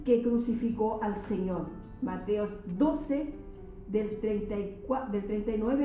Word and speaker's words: Mateo: que crucificó al Señor Mateos 12 del 34 del 39 al 45 eso lo podemos ver Mateos capítulo Mateo tengo que recordar que no es Mateos en Mateo Mateo vamos a ver del